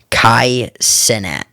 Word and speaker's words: Kai Cenat: I'm going to pronounce this wrong. Kai Cenat.